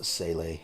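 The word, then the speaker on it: Seele: I know that Sele is how it looks like it's pronounced. You know, like Neon Genesis has Sele as an organization in that anime. I know they pronounce it Sele there. I don't know why it's Sela in this game, but, you know, Go. if that's the way that they want to pronounce it here, I will certainly go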